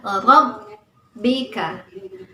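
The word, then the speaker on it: رَبِّكَ: Rabb. Ya, jadi ditekan rabbika. Sehingga cara membacanya ditekan.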